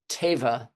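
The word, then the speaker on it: tevah: The word for an ark is the word teva. जब आग के लिए अब्रानी लफ्ज इस्तेमाल, तेवार लफ्ज इस्तेमाल हुआ है, And that's spelled with the letter T, teva.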